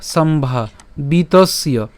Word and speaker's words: সম্ভাবিতস্য: আমরা এখানে উচ্চারণ করার ক্ষেত্রে বিতস পর্যন্ত উচ্চারণ করতে পারি, সম্ভা বিতস। এরপর যে জফলা আছে, এই জফলা কার মতো হবে? ইয়র মতো হবে। তাহলে আমরা একসাথে উচ্চারণ করলে সম্ভাবিতস্য, সম্ভাবিতস্য।